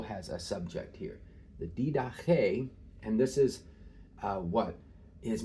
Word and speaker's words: Didache: This word is Didache. The accent is here on the last syllable.